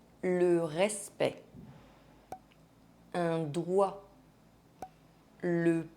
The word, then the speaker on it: doigt: Some words have more than one silent final consonant. Le respect, un doigt, le poids, le corps, le temps.